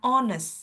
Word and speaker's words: honest: I for this one kita hilangkan hanya sis ya. Jadi bacanya hanya honest seperti itu, Sis.